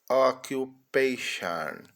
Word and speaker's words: occupation: O T o N com o som de Shan. São muitas as palavras em que t o N tem son de Shan. Então, ocupação ocupation.